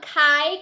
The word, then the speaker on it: Cai: So I just opened the next package here, and this is from Kai Cosmetics. I believe is how you say it, C-A-I Cosmetics.